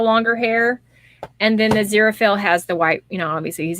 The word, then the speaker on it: Aziraphale: objectified David Tennant, But the whole thing is now you got me wanting to get a Zezafel. I think that's how you say his name. Aziraphale.